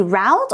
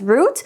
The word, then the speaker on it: route: okay here it says we should plan an emergency route or sometimes people read it as root both pronunciations are fine it's basically a way